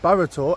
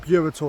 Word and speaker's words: Burrator: Okay guys, so as you would have seen in the intro, we are at Burtor and it's pronounced that, not Burator as I thought.